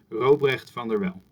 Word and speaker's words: Robrecht van der Wel: you can't do it because there's a very specific sound in there that's actually specific to my native language. So if I were to pronounce my name, it's Dr. Robrecht van der Wel.